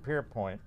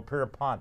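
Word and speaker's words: Pierpont: song jingle bells by James Pierpoint Oh Pierre Pont if you say it correctly was copyrighted under its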